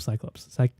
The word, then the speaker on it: Cyclops: I don't know how do you pronounce the plural of Cyclops? Cyclopes? It's just Cyclops, yeah. Okay. It's just Cyclops. Okay. It's like mouse, but it's oh no, sorry, it's like sheep. It's just sheep.